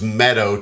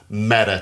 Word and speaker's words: Meadow: would think it was Meadow Texas but of course all the people from West Texas know it's pronounced meta Texas and that's where the